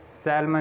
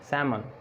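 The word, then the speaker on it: salmon: अब देखें इसको हम अलमोंड नहीं पढ़ते, अमाउंट, टॉक, इसी तरह कॉफ, com, chalk, Fock, half, पॉम, सैमन, सैलमन नहीं, सैमन, कुड, वॉक, शुड और वुड।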